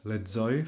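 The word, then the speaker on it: lexoj: It's in the word leoy. For example, leoy means I read. Leo Z. We also have this sound in English. For example, if we say goods, many goods.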